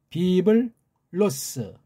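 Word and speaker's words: Βίβλος: 그럼 음문 발음 하죠 비을 그죠 비블로스 람다는 앞글자 리얼이라고 하는 기름칠로 들어가 그래서 비브 로스데일 슬쩍 넘어가야 돼 비자로 하면 안 돼요 비블로스 비블로스 예 로다 액센트를 둬야죠 그다음 이건 뭐죠 게네세오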